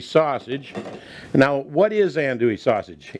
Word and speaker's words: andouille: to put in our andouille sausage. Now, what is andouille sausage? It's a New Orleans style sausage, and it's actually spelled A-N-D-O-U-I-L-L-E, but a lot of people pronounce it andouille.